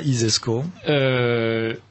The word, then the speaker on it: ISESCO: i alors l'isesco si vous considérez que ça isesco comme ça se prononce ainsi donc si vous imaginez le celi